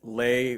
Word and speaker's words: Le: a quick disclaimer that it is any lay but it is spelled le and a lot of